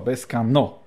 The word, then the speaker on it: Bescanó: No, akcent na O na końcu słowa. Bescanó.